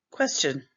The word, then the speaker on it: question: Quest chun or questen depends on where you live in the country. question. Sometimes T says J. So our space says T say J.